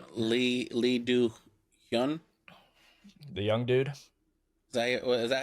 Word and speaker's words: Hyun: but Lee Do Hyun. the young dude. Is that how you would pronounce Hyun? Hyun.